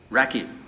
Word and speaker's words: Rakhi: Racky.